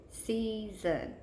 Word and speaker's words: season: So practice it again, season, season. You hear the long E before your chin ever hits your hand, which means it's in that first syllable, season, okay? So there's the first thing you need to know. Season, the accented syllable is in the first syllable.